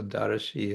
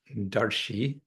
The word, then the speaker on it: daraśi: So daraśi is stretched out, darshi, to add one syllable.